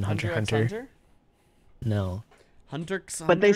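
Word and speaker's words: Hunter × Hunter: here super x yeah you don't normally pronounce the x and when it's like that in like japanese shows like hunter hunter you don't say the x in hunter hunter no hunter but they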